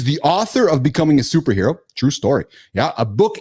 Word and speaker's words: SPRHRA: Superhero.